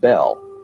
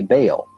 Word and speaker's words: Bel: Bell, spelled B-E-L, is usually pronounced Bell, but both Strong in his Hebrew dictionary and Fariabin in his prefer to say Baal. The word is probably the contracted form of some other Hebrew word, commonly pronounced Baal and spelled B-A-A-L.